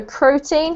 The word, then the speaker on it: protein: is protein protein okay so protein has the emphasis on the first syllable protein protein yes that's right great